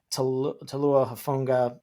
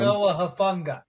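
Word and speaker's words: Talanoa Hufanga: It was Javon Hargrave, Malik Collins, Leonard Floyd, Dre Greenlaw, that Talua Hafunga. I can't say his name, but he's awesome. Talanoa Hafunga. There we go.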